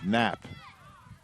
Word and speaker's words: Knapp: kick will be Quinn Knapp silent K on the front coming up on 35